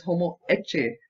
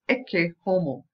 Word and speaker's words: Ecce Homo: right, Homo Ekke, because I've heard it pronounced as Homo Ecce, right? Many people say Homo Ecce for this painting, but the correct pronunciation in Latin is Ecce Homo, okay? Ecce Homo is behold the man, alright?